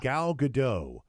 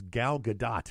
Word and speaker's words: Gal Gadot: now I can remember most people pronounce it with a silent T they say gal gadot and her actual name is gal gadot yeah gadot yep I'll